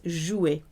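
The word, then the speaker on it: jouet: used in spoken language the word for toy is jewy its musket in our schooi it sounds like to play jew it but it's spelt with a t at the end version we see motion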